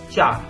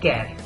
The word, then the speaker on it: char: one byte of memory next one is cha or care I will be pronouncing care and it stores Single